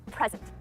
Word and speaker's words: present: him or her a present if I accentuated the second syllable it would be present so it changes the word from a noun to a verb so pay attention to